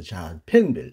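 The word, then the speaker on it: Safenwil: 샤펜빌이라는 말은 정말 너무 미국식 발음인지 모르겠습니다만은 원래 원어는 자펜빌이라고 해야 합니다.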